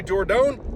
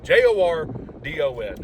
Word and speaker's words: Jordon: Why do I say Jordon? Because her name is spelled that way. Jordon.